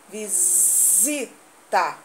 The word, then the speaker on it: visita: Também está, ó, o S, visita, com som de Z. Está entre uma vogal e a outra.